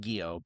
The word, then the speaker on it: Guiod: But Mark Guiod, I had to look to make sure I got Guiod right, because his name doesn't necessarily look like it would be pronounced Guiod, but Mark Guiod has a huge history.